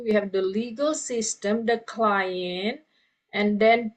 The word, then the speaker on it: legal: Kemudian bahasa Inggris juga tulisannya sama, Legal, tapi pronounce-nya not legal system, okay. Kalau nanti kalau bicara dengan orang orang asing yang bukan bahasa Indonesia, nanti dia nggak paham. Oke, legal itu apa dalam bahasa Inggris? Nggak ada kata legal gitu. Nah, jadi pronunciation-nya itu legal.